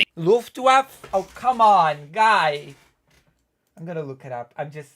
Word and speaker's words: Luftwaffe: Luftwaffe, not Luftwaffe.